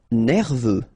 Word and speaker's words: nerveux: Nerveux, final X not pronounced, E-U, E, V, nerveux.